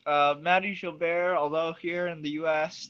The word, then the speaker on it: Mahdi Gilbert: And right, we would like to officially welcome, is it Mahdi Gilbert? Is that the right way to say it? Yes, it is. Mahdi Gilbert, although here in the US, they often call me just Mahdi Gilbert.